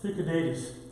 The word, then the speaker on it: Thucydides: interesting in these minuscules, and that would be pronounced Thucydides, and he was a very well-known historian, a Greek historian who wrote a lot during the Peloponnesian War.